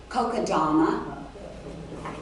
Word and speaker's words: Kokedama: How do you pronounce this? Kokedama.